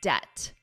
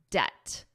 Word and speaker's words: debt: First of all, I hope you noticed in my pronunciation that I was not pronouncing the B in this. The B is silent. It's pronounced as debt, debt, debt, as soon as June.